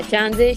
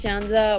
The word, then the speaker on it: Shanza: yeah, Shanze, Shanza, whatever you want.